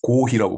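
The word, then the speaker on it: コーヒー: 근데 일본은 이제 커피 발음을 못해요. 일본은 어 발음이 없습니다. 그리고 피 발음도 못해요. 뭐 삐 발음은 있는데 커피 하면 또 이상하죠 오히려. 그리고 코삐 코 그래서 일본 애들은 고히라고 말합니다. 고히 커피를 고히라고 그래요.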